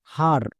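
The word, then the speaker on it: her: যেমন এইচ, এইচ এর জন্য হো, ই, ই এর জন্য আকার, তাহলে হয়ে আকার। নেক্সট তারপরে ই এর পাশে দেখো আর আছে, আর এর জন্য রো হই, তাহলে হয়ে আকা প্লাস রো কি হবে হার। সো মনে রাখতে পারো ই এর পাশে আর থাকলে ই এর জন্য আকার বা ই আর একত্রে আর সাউন্ড দেবে, যেমন হার।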